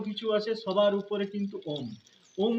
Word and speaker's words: ওম: যখন অ উচ্চারণ করবেন তখন স্পন্দন হবে পেটে। যখন উচ্চারণ করবেন তখন হৃদয়ে স্পন্দন হবে এবং যখন ম উচ্চারণ করবেন তখন গলায় স্পন্দন হবে। এটি হল ওম উচ্চারণ করার সঠিক পদ্ধতি।